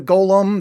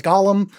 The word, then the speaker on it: golem: They meet a golem. They mispronounce that as Gollum, which that's the guy from Lord of the Rings.